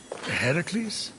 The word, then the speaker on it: Heracles: do doing that that thing with your voice Heracles yeah that that is how it's supposed to be pronounced seems like a lot of work but